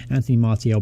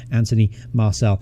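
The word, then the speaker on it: Anthony Martial: on pronunciation of them I keep calling him anthem RTL but in fact his name is Anthony Marcel so I have to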